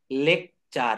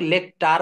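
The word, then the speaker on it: lecture: লেখ চার কি হবে লেকচার এটা কিন্তু লেকচটার বলা যাবে না টি টাকে এখানে চ বলতে হবে টি টাকে এখানে চ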